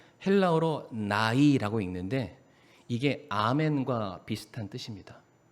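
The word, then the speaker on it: ναί: 성경 여기서 옳소이다 라는 게 헬라어로 나이라고 읽는데 이게 아멘과 비슷한 뜻입니다.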